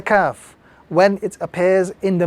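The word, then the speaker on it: ك: This letter is the letter Kaf. This letter is to be pronounced without any sort of stress or any sort of emphasis.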